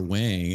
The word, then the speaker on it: Wang: I a buddy of mine has the same last name and he says Wong. So I guess it could go either way.